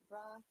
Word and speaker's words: Brahim: So where is, I'm sorry, how do you say Brahm? Is it Brahm? Brahim. Brahim.